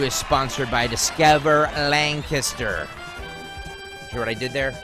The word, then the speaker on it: Lancaster: Mary, since you don't know, yesterday I read this spot, and they wrote out phonetically how to pronounce Lancaster. Right. It's not Lancaster, it's Lancaster.